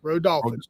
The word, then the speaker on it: Rodolfich: It's Rodolfich, and it's Rodolfich, just like it's spelled.